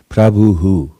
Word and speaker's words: Prabhu: dot, diacritical mark under the H means that you replicate the sound before. So you repeat the sound. That's why we say things like, Prabhu, yeah, and Vidaha.